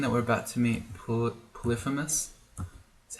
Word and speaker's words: Polyphemus: This Catoplepus plus all these death yaks is probably an indication that we're about to meet Polyphemus.